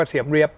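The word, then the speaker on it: Siem Reap: เสียม ราช หรือ เอ่อ ภาษา อังกฤษ ออก เสียง ว่า เสียม เร เลี้ยบ ถ้า ท่าน ไป ที่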